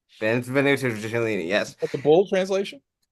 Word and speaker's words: Benvenuto Cellini: This I Benvenuto Cellini. Benvenuto Cellini.